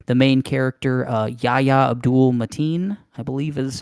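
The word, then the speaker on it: Yahya Abdul-Mateen: It definitely seems like the main character, Yahya Abdul Mateen, I believe is how he pronounces his name.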